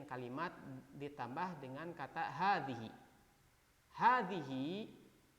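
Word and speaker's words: هذه: ditambah dengan kata Hadi Hadi high ini dibacanya panjangnya sebenarnya ha ini otomatis dibacanya panjang hadihi hakibati nah soalnya kan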